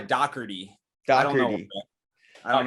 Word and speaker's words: Dougherty: last name is pronounced but american it's dougherty i don't know i